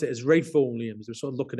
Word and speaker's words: Ralph: I pronounced it as rayful Williams were sort of looking at me as scans um you know and I have to explain it was you know it's it's a Ralph but pronounced differently um but but actually